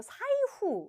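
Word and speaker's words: サイフ: 나중에 알고 보니까 와이후가 아니라요 사이후 요걸 발음을 잘못하셔서 깜짝 놀랐던 그런 기억이 있습니다.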